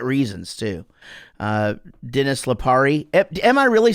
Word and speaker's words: Lipari: But in my family, we pronounce it Lipari, but maybe that's a New Jersey thing.